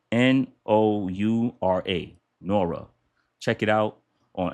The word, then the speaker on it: Noura: So, it's spelled n o u r a, Noura.